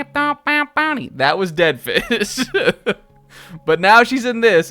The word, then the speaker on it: DEDF1SH: who previously, before this expansion, who's now called Oct, was called Deadfish, which was spelled like dead mouse, DEDF1SH. And Deadfish was the musician who produced all of the music for the Splatoon 2 Octo expansion.